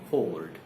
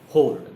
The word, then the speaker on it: hoard: Both these words are pronounced the same way, hoard, hoard, the way we pronounce board, etc. We pronounce this word.